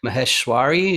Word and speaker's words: Maheshwari: uh totally embarrass myself is it maheshwari is that uh yes it is exactly like that yeah yes linguistics for